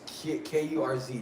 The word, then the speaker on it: Kurz: It's Kurz, not Kurtz.